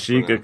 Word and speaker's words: Kashyyyk: Kashyyyk. That's how that's Kashyyyk, pronounced.